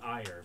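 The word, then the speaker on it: Aegir: houses great game is Ferdinand Von ire but it's spelled a-e-g-i-r so it's it's a little fun Eli came up with the name yeah over 6 000.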